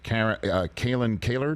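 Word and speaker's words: Kalyn Kahler: reporting from you and your two other colleagues, Kalen Kaler, did I pronounce it correctly?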